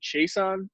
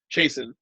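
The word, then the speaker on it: Chaisson: Was it Chason? I don't know how to say his name. Chason. Ryan, can you help me out with that? Jason. Chason.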